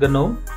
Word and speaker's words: GNOME: its default desktop environment actually it is supposed to be pronounced gnome so whatever ganon by default offers very